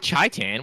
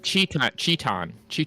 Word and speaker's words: chan: on chaan yeah oh Chan no it's not CH it's not chaan what the heck that's not how I don't know how to pronounce it dude Chan CH chan chan that's how it's said yeah that that sounds